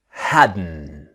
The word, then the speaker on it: hadn't: end of wasn't wherein hadn't the t is silent okay so let's start our practice now remember the pronunciation is hadden the t sound hadn't